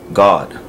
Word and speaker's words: Gad: In the Hebrew is God, G-A-D. It's spelled the same way, but it's pronounced a little bit different. Alright, it's a ga and a da, so it's combined, so it's God.